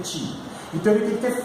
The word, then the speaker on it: Qi: Eles precisam ter energia para distribuir o Qi, ou Ti, melhor dizendo, porque a pronúncia mais correta é Ti.